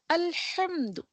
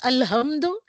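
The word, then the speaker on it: الحمد: Alhamdu. It is not Alhamdu, it is Alhamdu. Ha from the central part of the throat आपको pronounce करना है.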